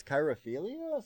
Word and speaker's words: chirophilia: I got Kyra, like it's chirophilia? Chiro. Sorry, I said queero. Cheiro, philia.